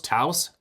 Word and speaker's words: Taos: I wonder how is that pronounced? Teaos. Taos.